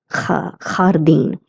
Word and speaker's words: jardín: It has a J, so I'm going to pronounce it as jardín.